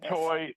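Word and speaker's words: I'itoi: Etoy. I don't know how to pronounce it. Etoy.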